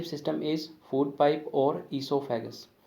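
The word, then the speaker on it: oesophagus: जो ईसोफेगस की स्पेलिंग है इसमें ओ साइलेंट रहेगा, ठीक है। हमारा जो प्रोनाउंसिएशन रहेगा यानी कि इसको जब हम बोलेंगे स्पेलिंग को तो वो ई से शुरू करेंगे, तो इट्स ए ईसोफेगस, ठीक है। ओ को हम नहीं बोलेंगे यानी कि ओ इज़ साइलेंट, तो ओ जो है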